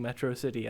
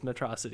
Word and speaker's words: Metro City: opinion like the way Megamind keeps mispronouncing Metro city as metrosity like that's hilarious to